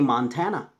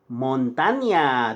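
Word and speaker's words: Montaña: States actually named in Spanish but you don't pronounce it properly you say Montana but it's not Montana it's Montaigne they got rid of the deal they over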